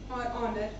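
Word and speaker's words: honour: से हो रहे हैं, आवाज तो ह की आनी चाहिए थी, लेकिन यहाँ पे ये साइलेंट हो जाता है, जो आवाज आती है स्टार्टिंग में वो ओ की आती है, जिसकी वजह से ये और ऑनर बन जाता है।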